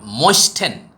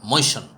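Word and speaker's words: moisten: দেখেন একজন সাধারণ পাঠক হয়তো বলতে পারে যে এটা শব্দের উচ্চারণ হবে ময়েস্টেন, আসলে উচ্চারণ হবে ময়েশন।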